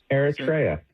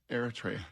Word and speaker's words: Eritrea: Well, there's an African country just north of Ethiopia, and it's spelled Eritrea. Yeah, Eritrea. Yeah. How would you say that? Eritrea. Eritrea.